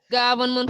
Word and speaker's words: government: Government for Danfaha. Government for Awa. So finally it's government. Yeah, it's ga. Not go, but government.